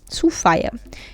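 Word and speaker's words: Suffya: Vou pronunciar S-U-F-F-Y-A, Sofia.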